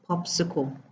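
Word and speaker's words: PopSQL: Is pronounced popsicle. Okay, I don't know why that's like that, but the pronunciation is popsicle.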